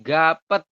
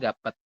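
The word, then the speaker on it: 값: Ti hanya tiga contohnya Ini tulisannya gapet ini kan harusnya dibacanya gapet ya yek ama dengan a dibaca ga bep di akhir kan P terus Yod di akhir juga t Harusnya kan gapet Tapi teman-teman bacanya hanya gap saja seperti ini kemudian yang bawah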